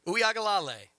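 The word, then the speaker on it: Uiagalelei: And pronounce the quarterback's name again? Uyagalale.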